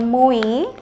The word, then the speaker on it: MOE: eh kerupuk ikan apa nih bacanya mu mu MUI mu jadi di sini e pemirsa bisa lihat ini namanya kerupuk ikan MUI ya ini maksudnya tuh kerupuk ikanmu gitu loh